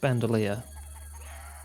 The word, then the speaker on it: bandolier: of fruit I swear that's just pronounced bandalia it just threw me off cuz it's like bandolier like what a spirited